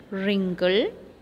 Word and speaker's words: wrinkle: one worry work wonderful here you can notice that in the third column the letter w is silent okay number pronunciation wrinkle